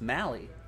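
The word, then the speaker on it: Mahle: all right next box so it's pronounced i've been saying tyler maylie the entire time it's mally at least that's what this broadcaster has said i'm assuming they have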